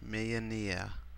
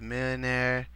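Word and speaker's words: Millénaire: I'm gonna show you how to install the Millenaire Mod, and that's how you say it in an English accent because it's French. Millenaire.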